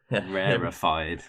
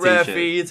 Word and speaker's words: Rarefied: But we started talking to him because they were repping Rarefied. Yeah, Rarefied. Not rare feed, not rare feel, rarefied.